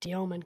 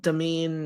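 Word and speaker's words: Demin: Domen. That's that's that's how he told reporters to say his last name. Perfect. Domen. Got it. Not Demen. Not Deamine. Not.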